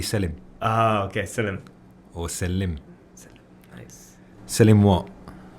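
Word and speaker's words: Selim: if if you print if you were turkish and you pronounced it you'd be selling oh okay nice selling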